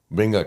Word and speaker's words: venga: know how you're pronouncing venga aquí. I thought before it was like with a V. But then when I started reading it, I was like, it's not a V. It just sounds like a V, but it's like a B.